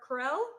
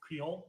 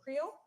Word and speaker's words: Creole: We have our Carell seasoning. How do you say it? Creole. Creole.